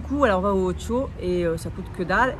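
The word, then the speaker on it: OXXO: chez nous, c'est le Ocho. Oui. Écrivez O-X-X-O. Et ici, prononcent les X en che comme dans le Pays Basque.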